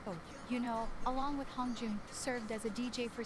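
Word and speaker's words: Hongjoong: Yunho and Hyungjin or Hongjun? No, I always think. No, it is Hongjun. How do you spell it?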